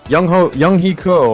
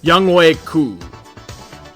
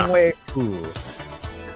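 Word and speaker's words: Younghoe Koo: But Young Hee Ko or whatever. Young Wei Koo. Who? Now you know how to pronounce it, right? Yeah. Young Wei Koo.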